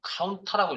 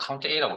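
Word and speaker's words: COUNTA: 자, 그래서 엑셀의 함수 중에 count A, 뭐 카운터라고 읽는 분도 있고요. 편하실 대로 여러분들 알아서 하시고 저는 count A라고 읽겠습니다.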